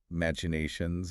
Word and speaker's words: machinations: Machinations, machinations, or machinations. Machinations. It comes from the same Greek root as machine, but the chi functions as a hard K sound in this specific derivation.